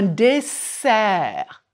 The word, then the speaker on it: dessert: Un dessert, et non pas un désert, comme le désert de Gobi ou le Sahara.